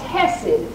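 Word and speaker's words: חסד: That word mercy in the Hebrew is Hesed. If you look it up, it's spelled C-H-E-C-E-D, but it's pronounced Hesed, the mercy of the Lord.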